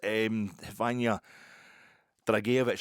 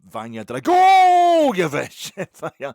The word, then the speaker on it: Vanya Dragojevic: Snagging items, Vanya Dragicevic, I kept calling him Vanya Dragicevic. That's not how you pronounce it. It's pronounced Vanya Dragojevic.